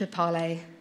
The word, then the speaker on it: EPALE: can see, I say I've always said EPALE, even when I've not been involved in EPALE, but I know other people have always said EPAL. So if you say EPALE, if you pronounce it EPALE, could you put your hands up? Okay, and what about EPAL? Okay. I shall carry on saying EPALE then with confidence.